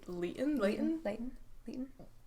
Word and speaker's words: Leighton: Leighton. This is how you pronounce it.